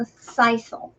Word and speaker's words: sisal: It's called sisal. And it's spelled S-I-S-A-L.